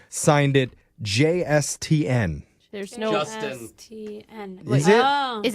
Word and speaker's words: JSTN: It's Justin, but it is spelled JSTN. Okay. Okay, it is Justin.